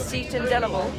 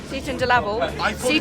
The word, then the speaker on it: Seaton Delaval: trying to confuse me I know that the pronunciation is SE and delible but he's saying Satan delal delal welcome to Sean